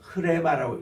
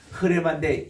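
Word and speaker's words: ῥῆμα: 그리고 이제 우리 흔히 했던 레마 할 때 보면은 이게 약간 이렇게 히읗 발음을 섞어서 흐레마라고 읽어주시면 좋습니다. 흐레마인데 히읗을 너무 강조하지 마시고 약간 히읗 섞인 발음을 한번 따라합시다.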